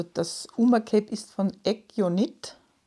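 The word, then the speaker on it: Aegyo: Und zwar heißt es Eggio. Eggio Knit. Also das Uma Cape ist von Eggio Knit. Schreibt man AE Gustav Y O Knit. Aber es ist koreanisch und wird ausgesprochen Eggio.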